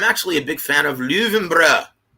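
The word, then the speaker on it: Löwenbräu: a big fan of luvembra or in america most well people pronounce it low and brow right i love that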